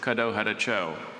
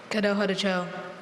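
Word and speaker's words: Kadohadacho: So I mispronounced that. The word is Caddo Hadacho. Caddo Hadacho. Caddo Hadacho.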